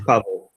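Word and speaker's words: Paweł: It's Pawel. Pawel with a V, right?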